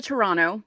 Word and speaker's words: Toronto: on going up to Toronto I'm going to say it like a native and not say the second T and I'm planning on